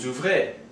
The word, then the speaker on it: ouvre: Now these four, just like for the verbs with ER, are pronounced exactly the same. Ouvre, even though their spelling is slightly different.